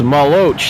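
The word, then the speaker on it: Maluach: So it's Maluch. That's how it's pronounced.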